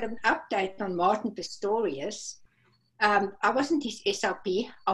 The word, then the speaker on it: Pistorius: has as she was an SLP for Martin Pistorius is am I saying it correctly Erna yes